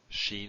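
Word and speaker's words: shin: But in terms of pronunciation, sin is s, sheen is sh, sh as in show.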